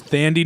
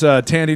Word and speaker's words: Thandie: I chose Thandie Newton, who is It's actually Maeve. pronounced Tandy, but thank you. I chose. I'll go first. I chose Thandie Newton, Maeve from Westworld, also in Crash.